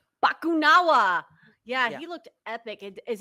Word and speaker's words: Bakunawa: uh the eater of moons how do you pronounce bakunawa bakunawa yeah he looked epic is he also from